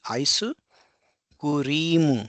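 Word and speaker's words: アイスクリーム: So you can see here because ice cream, so cream, here we have a long e sound like cream, ice cream. So it will be aisu kurimu.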